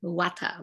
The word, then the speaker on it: Vata: That these is pronounced Vata, okay?